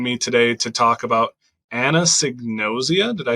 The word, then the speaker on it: anosognosia: much for joining me today to talk about Anna signosia did I say that right you got it